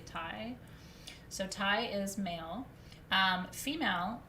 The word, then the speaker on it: tai: male in ancient egypt is t a i pronounced thai let's say thai so tai is male female is hmt it's